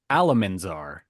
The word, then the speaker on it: Alamanzar: It's okay, Oliver, because I said it wrong. It was actually Alamanzar.